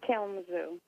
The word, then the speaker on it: Kalamazoo: how I'm gonna pronounce that how do you pronounce it to me it's Kalamazoo Kalamazoo okay perfect thank you I it's just with